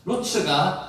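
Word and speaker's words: רוּץ: 그가 우물로 달려가 그 사람에게 이르러, 여기서 달려가가 와타라츠라는 두 단어 그 발음을 했는데 실제로 루츠입니다. 루츠가 다름박질하다, 달리다는 뜻입니다.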